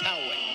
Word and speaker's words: Poway: Poway or Poway? I've heard it pronounced both ways. He says Poway.